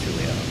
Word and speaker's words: Juliana: Wait, now, am I pronouncing that right? Is it Julia or Juliana? I'd say it's Juliana, but...